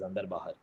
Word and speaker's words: Ander: of the show uh you called my name wrong that's not my name my name is ander so ander bahar is